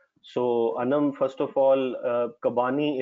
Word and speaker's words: Kabani: So, Anam, first of all, Kabani is the right pronunciation.